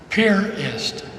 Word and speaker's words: Piarist: belt VI AR ist we pronounce it purist like we put a boat at a pier they put an i